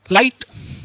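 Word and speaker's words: light: Next है जब किसी वर्ड में आई के बाद जी एच टी आए तब भी आई को आई से पढ़ते हैं, और एच टी में आया जी एच हमेशा साइलेंट होता है, जैसे फाइट, लाइट, राइट, नाइट, इस तरीके से।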